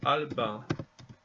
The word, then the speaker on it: album: Fransızca album diye okunuyor. Yine okunuşu biraz farklı.